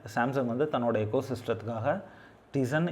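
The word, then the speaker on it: Tizen: சாம்சங்னு எடுத்துக்கிட்டோம் அப்படின்னா இதில் வந்து சாம்சங் வந்து தன்னோட எக்கோ சிஸ்டத்துக்காக டிசன் இல்லை அப்படின்னா டைசன், இதை வந்து நான் வந்து யூஸ்வலாக இதை டைசன் அப்படின்பேன். ஆனால் இதை ஆக்சுவலாக ப்ரொனவுன்ஸ் பண்ணுறம்போது வந்து இதை டிசன் அப்படின்னு சொல்லிட்டு ப்ரொனவுன்ஸ் பண்ணுவாங்க, ஓகே.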